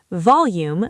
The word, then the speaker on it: volume: Volume. Stress the first syllable. Volume.